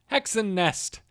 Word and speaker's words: Hexen Nest: Hexen Nest. There's an E at the end. So it's like Hexen Nesty, but I don't think you're supposed to pronounce the E.